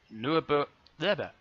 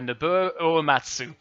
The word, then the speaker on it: Nobuo Uematsu: main theme from a farmer fantasy 7 by Norbert deader by I climb in say his name properly by Nobuo Uematsu oh I'm going to be crucified for that